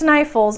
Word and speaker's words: Snæfellsnes: But tonight we've learned Snæfellsnes, and although I know it's Snæfellsnes, I'm probably still going to pronounce it Sneffels just because that's the way it's written, and that's how I've been pronouncing it.